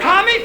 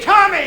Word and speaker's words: Tommy: You could have told him it was Tommy instead of commie. I know that. Now say it. Commie. Not commie, Tommy.